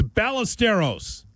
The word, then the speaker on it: Ballesteros: You think they're going to pronounce the name properly? It's Chicago. It's Ballesteros.